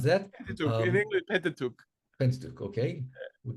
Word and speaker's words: Pentateuch: Do you pronounce that? Pentateuch, in English, Pentateuch.